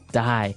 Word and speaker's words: dye: Okay, dye. So it's pronounced exactly the same way as, you know, to dye to not live anymore.